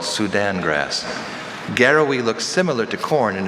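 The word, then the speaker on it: garawi: Garrowy.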